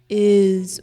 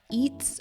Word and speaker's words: is: or what's your name remember the word is we pronounce is is with a z sound not eats or eat before moving on to